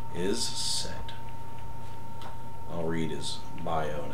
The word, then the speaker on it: is said: real cool in here whose name is is said like like lowercase is lowercase said like a or s-a-i-d is said I'll read his bio